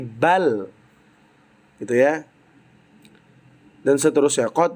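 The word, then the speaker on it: بل: Misal bal al bau walamu bukan tapi bal gitu ya dan seterusnya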